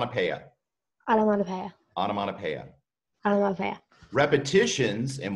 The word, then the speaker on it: onomatopoeia: that right there yeah that p OE is Latin and it's pronounced pea so autumn on a pea I don't have onomatopoeia I love it repetitions